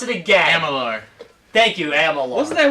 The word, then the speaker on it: Amalur: Could you pronounce it again? Amalur.